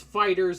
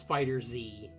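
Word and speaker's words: FighterZ: i would like um it's fighters fighters or fighter z what i don't i don't know i don't care they like i've heard it pronounced both ways um it it doesn't really matter uh it's fighters but it is stylized as fighter z um but like when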